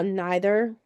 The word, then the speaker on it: neither: a c notice how neither or neither depending on how you pronounce it weird foreign Leisure C's